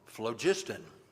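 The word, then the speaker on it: phlogiston: that made up everything called flogistan, spelled with a ph, the essence of all being.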